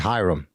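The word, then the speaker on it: Jaime: what's your first name my first name uh pronounced properly is hyam hyam y in Spanish is pronounced you know so the dialect it kind of sounds a little bit sweeter that way but um you know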